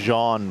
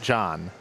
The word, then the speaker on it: Jean: the whole Perez thing it's supposed to be Jean Perez Jean Jean not John Jean Jean Perez that's how it's supposed to be pronounced French